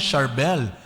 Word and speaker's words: Charbel: C yon ang ang banggit pa rin ay Sharbel pero sa mga English speaking country wow kasama